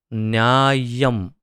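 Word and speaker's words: न्याय्यम्: नरह व्यक्ति, न्याय्यम, ये आधा, तीन य है इसमें, न्या, य आधा और य म, न्याय्यम। तो उसका उच्चारण जो है थोड़ा विशेष होगा, न्याय्यम, लेकिन अर्थ न्याय ही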